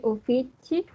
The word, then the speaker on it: uffici: Gli uffici. Gli, ojo a la doble F. Uffici.